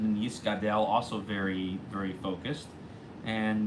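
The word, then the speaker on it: יִתְגַּדַּל: And you should also make sure they make the g sound in Yis Gadel also very, very focused, and make sure that you really pronounce Yis Gadel the Yis Kadesh.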